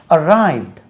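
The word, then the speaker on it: arrived: ஆர் ஐ வி டி உச்சரிப்பை கவனிங்க அரைவட் அரைவடு ராஜா அரைவடு அட் 10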